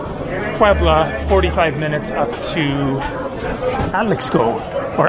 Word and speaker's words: Atlixco: And then I went by Uber from Puebla, 45 minutes up to Atlixco, or Atlijo. Not quite sure how to pronounce that one because the X is normally pronounced like an H.